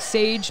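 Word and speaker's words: Sayegh: Sage, pump fake. See, it rolls off the tongue once you know how to say it. Yeah. Well, there's like 30 different letters in there that shouldn't be there.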